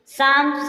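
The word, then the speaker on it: psalm: जैसे क्या होगा, एम एफ के एवं डी से पूर्व एल साइलेंट रहता है। पाम मीन्स हथेली। शाम मीन्स भजन।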